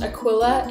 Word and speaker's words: Aquila: And in the Bible, it's pronounced Aquila, and it's a guy, and he's married to a woman named Priscilla, and they're friends of Paul.